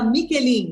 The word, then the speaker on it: Michelin: Michelin, mas se escreve Michelin, porque esse H em italiano tem som de QU em português, né?